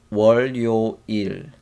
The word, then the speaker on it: 월: 월요일. 월, 월, 월. It's kind of hard to pronunciate. 월. So this sound sound like a 우어, 우어, and together 워, and add L sound.